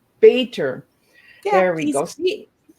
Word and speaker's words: Bator: Bator. Bator. Yeah, there we go. See, sometimes I pronounce the letters instead of the flow of the word, right?